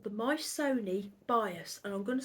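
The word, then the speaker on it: Myssoni: It's called the Mysoni Bias, and I'm going to spell it for you.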